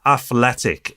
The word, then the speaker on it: Athlytic: But I've gone and got myself an app called Athletic. It's spelled differently.